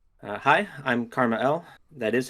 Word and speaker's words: KrmaL: Your name is pronounced Karma L. Yeah. I mean, honestly, I've heard people say Kmal so much now that I'm like I'm like reading it that way.